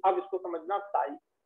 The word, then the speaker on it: psi: जो दिख रहा है साई, कुछ लोग साई बोल देते हैं, कुछ लोग जाई बोल देते, इसकी स्पेलिंग है PSI। तो जब हम हिंदी में पढ़ते हैं तो उसे साई बोल देते हैं, साई, और जब इंग्लिश में पढ़ते हैं तो मैं जाई बोलता हूँ, जाई, तो साई, PSI, पी साइलेंट है, PSI साई कहलाता है, ठीक है।